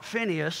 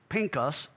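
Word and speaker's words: פינחס: name out of the four is FAS or Phineas the way you may have been accustomed to call him his actual the the way you pronounce his name in Hebrews Pinkus and it is a combination of pay and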